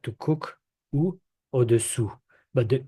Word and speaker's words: au-dessous: Now we have au-dessus, au-dessous. So above and below. So I don't know if you can hear the difference. I'm gonna repeat, but try to get it.